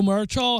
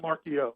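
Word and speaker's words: Marchiol: Nico Marchal, how do you say his name? I'm probably saying it wrong. It's just the L is silent. It's just Marchio.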